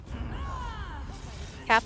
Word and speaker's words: Kappa: Tamron supposed to go Kappa cap not cop Kappa so confused also [